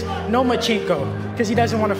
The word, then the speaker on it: Lomachenko: You are now the mandatory challenger for Vasyl Lomachenko's 135-pound title. Do you believe, at 20 years old, you're ready for that type of challenge? I think you said his name wrong. It's Lomachenko, because he doesn't want to fight me.